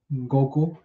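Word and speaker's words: 悟: I don't know if you know Goku, right? That's Goku's kanji, which is pronounced as Go, right?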